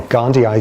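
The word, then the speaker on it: gondii: Okay, how are you pronouncing it these days? Gandhi. Gandhi. Gandhi eye because there's two eyes at the end which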